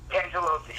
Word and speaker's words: Cangelosi: I'm on the phone with Joe Cangelosi of, and I am pronouncing that right, correct? Cangelosi, yeah.